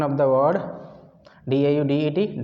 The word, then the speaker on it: Daudet: Pronunciation of the word D-A-U-D-E-T, Daudet.